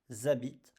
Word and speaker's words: habitent: Ils habitent à Montréal. They live in Montréal. Same here, you see, I have NT, but I just pronounce the E.